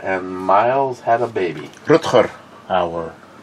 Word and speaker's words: Rutger Hauer: McLean, Sharky looks like Rucker Hauer and Miles had a baby. Rutger Hauer. At least pronounce his name properly. He's Dutch.